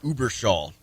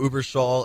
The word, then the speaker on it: Überschall: band coming out of Blue Man Group is Uber Shaw which I I think I'm pronouncing correctly but we have we have Elvis from Uber Shaw uh with us right now am I saying